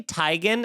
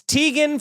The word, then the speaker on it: Teigen: account i'll tell everybody they've been saying my name wrong the whole time chrissy teigen did it she's like it's actually tigen and guess what you no it's not it is it's tegan forever